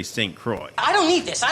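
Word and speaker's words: St. Croix: arriving in St Croy do you say it St Croy or St qua it's Croy right that's how you pronounce it I mean we say it that way probably if you were civilized you would say qua but we're not from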